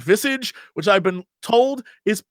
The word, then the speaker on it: Visage: scare games we just played a game called visage which I've been told is supposed to be pronounced visage which I've never heard of in my life